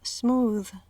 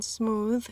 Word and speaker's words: smooth: Una excepción es la palabra smooth. La TH en smooth es sonora. Smooth.